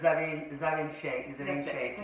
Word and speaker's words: Zarin Sheikh: So I came across a really good podcast, and there was a lovely lady called Dr. Sarin Sheikh, I think that's how you say her name. Yes, Zarin Sheikh.